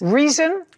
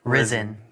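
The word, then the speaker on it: Rizin: Reason. Ryzen. Ryzen. Spell it.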